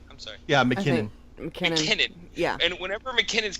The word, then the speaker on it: McKinnon: Yeah, McKinnon.